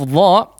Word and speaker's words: ظ: ya, yaitu pengucapan huruf dha. Perhatikan titiknya, kemudian cara pengucapannya adalah seperti atau sedikit menggesek antara kedua ujung lidah ini ya, atau kedua ujung lidah dengan ujung gigi serinya.